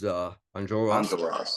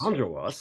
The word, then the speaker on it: Enjolras: So let's talk a little bit about your role, because the role is Enjolras. Enjolras. I keep wanting to put the accent on the wrong syllable.